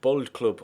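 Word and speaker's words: Boldklub: So Athens Bold Club, or maybe Bold Club. I'm not sure whether the D in Bold Club is pronounced as a D or the th sounding part of the word, but I was told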